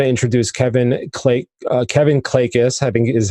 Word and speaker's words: Klages: it I want to introduce Kevin clay Kevin clay kiss having is how you said I pronounce it and I apologize if I just